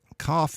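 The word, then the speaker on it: כ: y like in yell cough you see three forms here with the one with the dot which we pronounced with the hard case sort of sound like in can without the dot the sound the guttural of type sound like Bach you can also see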